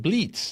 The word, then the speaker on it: Blitz: came through Ellis Island, he pronounced his name Bleets. That's how Bleets.